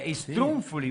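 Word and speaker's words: struffoli: Sì, strunfoli, un riscatto. Strunfoli, la pronuncia certa le strunfoli.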